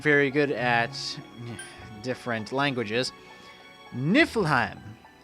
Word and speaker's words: Niflheim: And while we're on the topic of me not being very good at different languages, Niflheim, it's Nordic, and that's how you pronounce it.